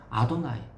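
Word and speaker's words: אדוני: 혹은 아도나이 나의 위대하신 주님이라고 하는 뜻으로 경외심을 가지고 발음을 합니다.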